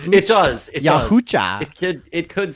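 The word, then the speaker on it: Yautja: hunters known as the yucha the yahaa yucha yucha it's spelled yaa but apparently it's yucha yucha I got some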